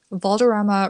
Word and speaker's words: Valderrama: his ex-girlfriend Lindsay Lohan Valderrama rhymes with drama because that's what he